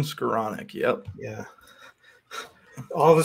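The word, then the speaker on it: Skowronek: yeah what about uh pronounced scleronic that's not how you pronounce him Ben scaronic yep yeah all of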